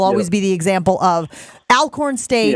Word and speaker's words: Alcorn: Donald Driver for me will always be the example of Alcorn State or Alcorn, I think I've been told it's pronounced.